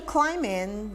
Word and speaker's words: climbing: He says, social climbing, the B is silent.